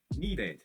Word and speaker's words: needed: Então eu falo bem aberto o ed, ó. Needed.